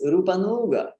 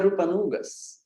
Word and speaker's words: Rupanuga: Gaudiya Vaishnava tradition, and it's mispronounced as Rupanuga. Rupanugas. We are Rupanugas. So followers of Sri Rupa, but not Rupanugas, Rupanugas. Rupanugas. Again, the same mistake is made, that U is made long, and we say instead